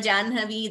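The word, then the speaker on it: जाह्नवी: So, these are certain exceptions to where we pronounce in a particular way, though we write slightly differently.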